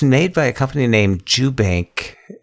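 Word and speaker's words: Jubanke: by a company named jubank e j-u-b-a-n-k-e and it has the the e is silent jeff i know but see i wasn't sure because eloquence pronounced it ju banky my first thought was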